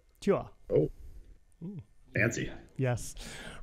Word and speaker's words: Tuor: Although I saw your name, I saw your name pronounced Tour, T-O-U-R, and it was on a poster, and I was like, oh, guys, how could you get that wrong? You know. It's actually pronounced Tuor. Tuor.